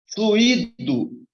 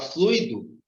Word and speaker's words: fluído: é usando tá certinho fluído Tá certo se eu quero falar da flexão do verbo fluir Então tem um hiato aqui tá certo Ok se eu quisesse falar fluido sai errado mas quero utilizar o